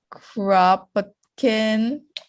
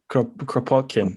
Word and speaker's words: Kropotkin: And I'm gonna butcher the names, but you have to do a Russian accent. Kropotkin. Kropotkin, I think.